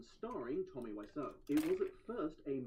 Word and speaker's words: Wiseau: Incidentally, Sestero recorded his own audiobook, and it seems to me that he's pronouncing his friend's name as Wiseau, while the internet is insisting it's pronounced Wiseau, but honestly, I'm gonna